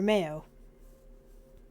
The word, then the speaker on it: Mayo: company pronounced my or Mayo much like the condiment Quran han han is